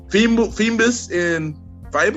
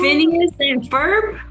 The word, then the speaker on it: Phineas and Ferb: Help me out if I pronounce this wrong. Phoebus and Fiber. Phineas and Ferb. There you go.